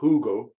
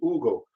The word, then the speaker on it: Hugo: a younger brother hugo it's not hugo i mean the spanish you don't pronounce the hatred silence says ugo uh age 52 i